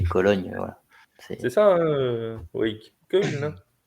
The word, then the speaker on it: Köln: Köln. Köln. Köln. T'as vu cette prononciation allemande?